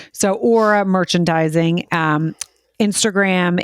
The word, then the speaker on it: Aura: a company and I'm I butchered that last time too which it's so crazy because I've not I said I think I said Aura but it's it is AA but I said Aurora yeah said aora yes so Aura merchandising um